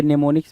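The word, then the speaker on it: mnemonics: होती है, जहाँ पे टी क्या होता है, साइलेंट होता है, उसी तरह आपके नेमोनिक्स में क्या होगा भाई, नेमोनिक्स लिखोगे, नेमोनिक्स, नेमोनिक्स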